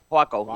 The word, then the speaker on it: Huaco: Waco? Huaco, yeah. Yeah. Wow, did I pronounce something right?